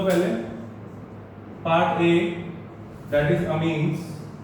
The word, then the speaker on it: amines: Part A that is अमीन्स। बच्चे अमाइंस नहीं होता, इट्स अमीन्स, ठीक है। आप देख सकते हो कि इसको सही प्रोनाउंस कैसे करते हैं, इट्स अमीन्स।